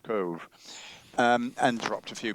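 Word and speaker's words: Cobh: uh Queenstown in Ireland, which is now called Cove, C O B H, pronounced Cove.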